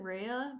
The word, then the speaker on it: Rhea: Ria FC keeper or REA FC? I pronounce it Rhea, but I think you can say it however you want.